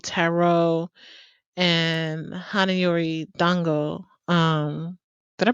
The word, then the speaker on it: Hana Yori Dango: this episode was gonna be called Tarot and hanayori Dango um did I pronounce that right yeah that's right um um